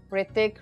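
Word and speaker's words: Hrithik: H is silent. Okay, I got that message a lot and I'm trying, guys. I mean, I'm practicing. Like, let's try. Ritik, Ritik, Ritik, Ritik, Ritik.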